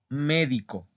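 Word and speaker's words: medico: Entonces, por ejemplo, médico. Médico. Médico. Médico. Médico. ¿En dónde está la sílaba tónica? Al principio, ¿verdad? En la me. Médico.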